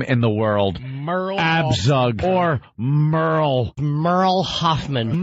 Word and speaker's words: Merle: M-E-R-L-E is Merle. No, Stephanie. Well, I thought maybe she spelled, you know, sometimes girls will spell their name, it'll be Jill, but they spell it like J-Y-L-L. There is no way this is Merle, because it's M-E-R-L-E. It's Merle. It's Merle. Her name is Merle.